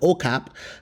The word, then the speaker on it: Okap: So, what I decided to do was go to um Capian, which we call it OKAP, because this is the safest area.